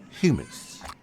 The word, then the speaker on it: hummus: Actually, Janet, the correct pronunciation is in fact humus.